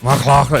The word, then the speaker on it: McLachlin: McLachlin, is that how we pronounce it? Yeah, it's a proper Scottish name. I thought it was a GH, it's a CH, but yeah.